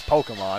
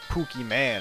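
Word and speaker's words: Pokémon: mean at least I at least know that it's Pokemon and not like Pooky man or something like that I don't know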